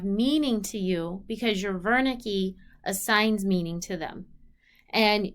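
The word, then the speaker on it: Wernicke: so these are the Verna key and the Gnostic and Verna key is a German word so it's spelled with a W but it's pronounced like a V the Verna key is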